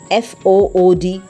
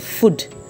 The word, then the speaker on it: food: F-O-O-D, it's not food, it's food.